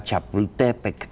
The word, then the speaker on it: Chapultepec: Nadie va a decir nunca Chapultepec, eso sí podemos tener la seguridad. Pero sí era así la pronunciación original. Eran palabras graves todas en el náhuatl, sí.